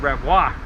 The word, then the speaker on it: Revere: means French Protestant, and his name in French is pronounced Revoir.